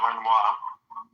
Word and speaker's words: Renoir: It's pronounced Renoir.